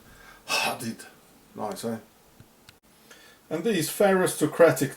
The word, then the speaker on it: hadith: There is a hadith or interdiction number 5173 till 5178 in the